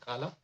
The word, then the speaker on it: Kala: No, it's not to be Khalid. It's supposed to be Kala.